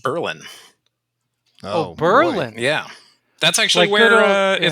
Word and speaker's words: Berlin: that's spelled b-r-l-i-n which you'd think would be pronounced berlin or berlin but uh it's pronounced berlin oh berlin yeah that's actually where uh it's